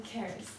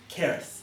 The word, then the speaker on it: Keris: Keris. Keris. Yeah. Sorry, thank you. I just thought I'd ask because I was going to say Sarah, so Keris.